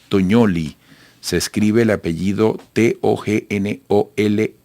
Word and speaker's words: Tognoli: Bueno, para conversar sobre este tema, tenemos vía Zoom desde Buenos Aires, capital argentina, a Tognoli. Se escribe el apellido T-O-G-N-O-L y latina, y su nombre con doble M, es analista internacional argentina.